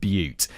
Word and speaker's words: Butte: Elephant Butte. Oh, it is pronounced.